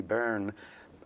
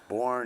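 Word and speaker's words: Byrne: much just the alfie bern it's b-y-r-n-e there are four different ways depending on where you're from and what part of ireland dublin exactly and how that's pronounced it's born it's barren it's barren so you have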